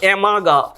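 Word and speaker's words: Amagat: পরবর্তীকালে এই পয়েন্টের ভুল ধরেছিলেন সায়েন্টিস্টের নাম অ্যামাগা। টি এর উচ্চারণটা আসবে না, সায়েন্টিস্টের নাম অ্যামাগা।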